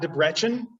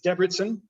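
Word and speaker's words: Debrecen: north of debertson and it is not de brechen which is how i first pronounced it and um that's my midwest uh kind of showing through there it's debridsen um and uh so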